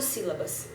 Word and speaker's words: sílaba: Sílaba só tem 3. Sílaba. Recaiu na primeira?